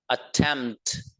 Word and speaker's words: attempt: अब देखिएगा next word, देखिएगा नेक्स्ट वर्ड है ATTEMPT, अटेम्प्ट। देखिए आखिर में भी साउंड निकल रहा है कुछ, इसको जब मैं प्रोनाउंस कर रहा हूं तो देखिएगा, अटेम्प्ट, ये निकलना जरूरी है।